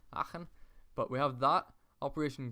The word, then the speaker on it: Aachen: Aachen. I tried to like pronunciate the A. Aachen.